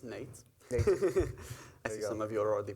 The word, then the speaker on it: Nejc: name is Nate my name is pronounce Nate some of you are